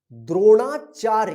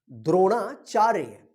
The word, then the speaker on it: द्रोणाचार्य: रा द्रोणाचार्य, चा य चा के बाद आधा र का उच्चारण हो रहा है तो य के ऊपर रेफ आएगा, चार्य।